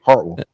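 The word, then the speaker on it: Hartwell: go fishing on Heartwell is it two Heartwell two syllables not like two really short syllables part I like it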